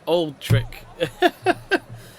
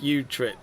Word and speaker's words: Utrecht: Thank you, Zidtrick, saying pretty much tell me how to pronounce Utrecht instead of Old Trick. Old Trek, Utrecht.